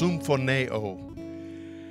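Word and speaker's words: συμφωνέω: When Jesus told us about the power of agreeing in prayer, he used a word that is pronounced symphoneo, and that was the word for agreement.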